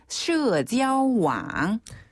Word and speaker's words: 社交网: 네, 한국식 발음으로는 왕이라고 들려지는데요. 네. 그래서 SNS를 중국어로는 社交网.